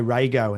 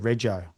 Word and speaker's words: rego: Like it would say Rego instead of Rejo.